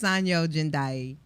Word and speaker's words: Sanyo Jendai: I'm trying to say, say it phonetically the way it's spelled, and I know that's wrong. So you're not the only one. It's Sanyo Jendai.